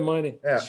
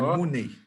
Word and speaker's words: Mooney: Show me the money. Porque não é money, é Mooney. É Mooney, com 2 O's, tá certo.